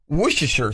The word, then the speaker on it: Worcestershire: And again, it's something that first of all, people have trouble pronouncing. Worcestershire sauce.